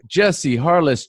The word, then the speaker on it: Jesse Harless: So folks, today we have Jesse Harless joining us on the show. I'm pronouncing that correctly, right?